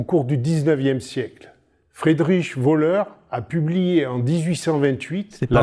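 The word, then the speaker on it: Wöhler: comme une molécule organique ce n'est pas un voleur c'est juste son nom de famille ça se prononce voleur voilà je me dis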